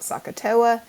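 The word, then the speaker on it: SOHCAHTOA: differently but if you if you kind of try to pronounce s o h c a h t o a it kind of sounds like Saka it stands for S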